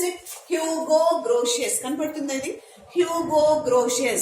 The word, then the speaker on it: Hugo Grotius: Pronounce it Hugo Grotius.